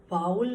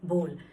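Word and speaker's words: bowl: Okay, so here the correct pronunciation of बाउल नहीं होती, the correct pronunciation is बोल.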